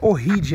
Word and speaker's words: Ohrid: no lago need também o nome pronuncia horrid não é oriente mas eu só falo